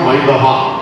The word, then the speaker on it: മൈദ: ഞാൻ ലേഖനം വായിച്ചപ്പോഴാണ് മനസ്സിലാക്കിയത് മൈദ എന്നിവ അതിന്റെ യഥാർത്ഥ ഉച്ചാരണം മൈദഹ എന്നാണ് അവിടെ നിന്നാണ് മൈദ ആയിട്ട് മാറുന്നത് മലയാളത്തിൽ അങ്ങനെ എത്രയോ വാക്കുകളുണ്ട്